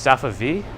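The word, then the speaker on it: Safavieh: Oh, it's just Safa V? That's it? The V-I-E-H is just, you just pronounce the V?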